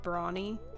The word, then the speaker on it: Brawny: Pronounced like the paper towel guy, like Brawny.